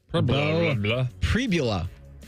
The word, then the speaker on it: Pribula: Pribula is how you pronounce Pribula. Okay. That's how you pronounce his name.